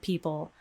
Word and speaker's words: people: schwa symbol is gone it shows you only the l and the word people so we go straight from the pn to the l now the oxford learner's